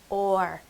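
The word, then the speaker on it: אור: w r and when we transliterate it we pronounce it or and under the definitions and strong dictionary there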